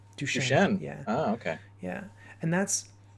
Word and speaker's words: Duchenne: muscular dystrophy but uh how do you pronounce duchenne shame duchene yeah okay yeah and